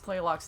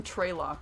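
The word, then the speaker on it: Tlaloc: They didn't even spell or pronounce Tlaylock's name right. They called him Traylock with an R.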